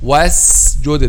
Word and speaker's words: وَاسْجُدْ: But the correct pronunciation of this word is make it a clear letter sin. A clear letter sin. Was-jude, not was-jude. The was-jude, this is whether between letter sin and letter 𝐬, or letter 𝐬, and both of them are wrong. But pronounce it as clear letter sin 100%.